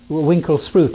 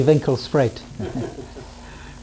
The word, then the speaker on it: Winkelspruit: It means the river by the shop, but the English mispronounce it. What do they call it? Winklesproot. It should be Winkelspruit.